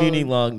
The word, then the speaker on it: Muni Long: Muni Long made for me.